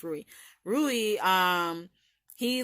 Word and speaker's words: Rui: him you know andrewy that's what it's not Louise who's Rui it smell like Louise but it's like Rui it's pronounced worry Rui um he like he's I guess he